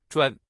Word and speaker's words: 专: In today's video, we'll teach you the Chinese character for expert pronunciation. Chuan.